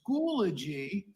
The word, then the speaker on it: Schoology: Because it is Schoology. Schoology. So I gotcha. You need to pronounce it as Schoology. Schoology. Like a eulogy, but Schoology.